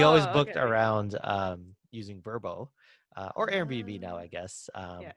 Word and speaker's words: Vrbo: you know this um vrbo is actually pronounced verbo oh really yeah i saw